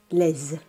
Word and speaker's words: les: Note that in front of a vowel or a silent H, les is pronounced les.